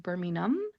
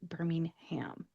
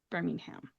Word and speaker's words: Birmingham: I believe in England it is pronounced Birmingham, and they don't really make the H sound at the end of the word. If you are coming to the United States, definitely pronounce it Birmingham. Birmingham.